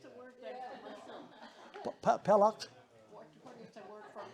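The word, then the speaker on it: peləq: So it's P E L schwa Q, Pelak.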